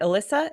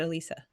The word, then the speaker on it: Alyssa: Is it Alyssa? Am I saying it right, or is it Elisa? Mm-hmm. Alyssa? Yep, that's right.